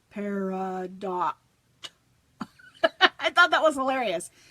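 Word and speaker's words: Pardot: so I got online I Googled how do you pronounce this word CU I didn't want to say it wrong and the video go or the little mouth thing says par do I thought that was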